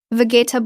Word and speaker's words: vegetable: Vegetable blow natural pronunciation. We drop the second e. It becomes three syllables.